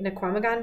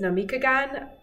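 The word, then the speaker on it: Namekagon: Sometimes I say Naquamagon, but it's Namikagon Valley Farm.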